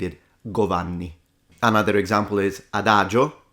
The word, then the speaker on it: adagio: Another example is adagio, not adagio.